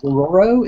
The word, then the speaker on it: Dororo: you had I want to make sure I'm pronouncing Tezuka's Dororo. Is that correct? Oh yeah, yeah, that's right, Dororo.